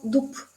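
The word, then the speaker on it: дуб: árbol se llama do se escribe con va rumbo rumbo pero si esta vez tiene una parejita le quitamos esta voz y se pronuncia como duck duck sí un montón un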